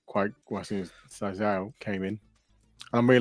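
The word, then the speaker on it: Sciel: How do you pronounce the other girl? Ciel? How do you say it? Ciel, yeah.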